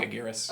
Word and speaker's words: Megaguirus: How do you pronounce that? Megaguirus.